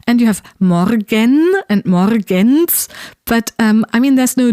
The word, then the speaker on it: Morgens: But still, I think I sometimes produce a D sound between the N and the S in Morgens as well. Just because that's what naturally happens when you go from N to S.